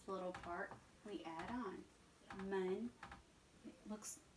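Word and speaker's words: 们: Mun. It looks, remember the E is pronounced like a U sound?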